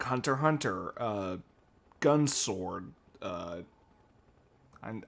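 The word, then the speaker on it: Hunter × Hunter: it spyx family but the x is supposed to be uh silent kind of like Hunter Hunter uh gun sword uh I'm I'm probably missing one yeah the X and Hunter Hunter is silent it's odd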